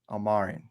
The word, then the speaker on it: Almirian: I'm Almarian, yes.